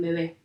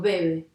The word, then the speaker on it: bebé: ¿Cuál es la sílaba que suena más fuerte en bebé? La última, ¿sí? Yo digo bebé, no digo bebe, ¿sí?